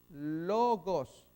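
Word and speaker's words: λόγος: pronunciación, que lo que importa es retener la pronunciación, es Q, significa Señor. Acá L mayúscula, lewites, L mayúscula, lewites, es el levita. Logos, L-O, gamma, O, sigma, logos, eso es palabra, razón.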